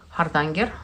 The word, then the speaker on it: Hardanger: And also in the same purchase, I also added such a book, which is a book manual for Hardanger.